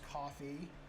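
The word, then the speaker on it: Ko-fi: I believe it's pronounced coffee.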